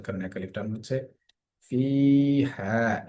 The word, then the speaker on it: فيها: ফি হা, এখানে এসে ফা এর মধ্যে একালিফ টান হচ্ছে ফি হা। জের এর বাম পাশে জজমালা ইয়া আসার কারণে ফি এখানে টান হলো, এবং হাতে টান হচ্ছে জবরের বাম পাশে খালি আলিফ আসার কারণে।